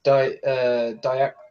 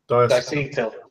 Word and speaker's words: diacetyl: I know in a 10 mil you're not allowed diactyl. I said it right. Diacetyl.